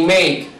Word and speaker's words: make: Mira, take y make. ¿Qué es lo que se pronuncia? Se pronuncia la K, pero nunca se pronuncia la E.